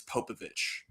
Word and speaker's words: Popović: Not exactly 100% sure on that, but I'm I'm very confident that it's Popovich.